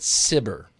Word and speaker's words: SBIR: Paul sir what is the SBIR program so SBIR stands for Small Business Innovation research sometimes people pronounce it simmer and it's a federally